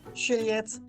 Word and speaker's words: Juliette: Okay, I will say it in French because it's a French name.